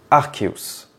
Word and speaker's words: Arceus: je vous annonce que ce Pokémon doit se prononcer archeus et ouais c'est difficile